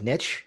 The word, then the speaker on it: niche: some people pronounce it nish I like niche because it rhymes with rich uh-huh I look at